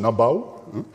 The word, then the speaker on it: nebu: so nabara gold from the Egyptian nebu pronounced nabau and edar silver from